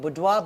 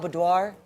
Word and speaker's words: boudoir: earlier on Hans that there's two ways to say it. The American way and there's another way. How do we say it? Budwo. Budoir.